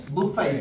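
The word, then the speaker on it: buffet: इसका जो सही तरीका है इसमें टी आपका साइलेंट है। आप बोलोगे बुफेट। क्या बोलेंगे? बुफेट। या बोलेंगे [गला साफ़ करने की आवाज़] बफे। क्या बोलेंगे? बफे। दोनों सही है।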